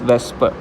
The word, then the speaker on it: VSEPR: वेस्पर pronounce वेस्पर, इसको pronounce ऐसे किया जाता है।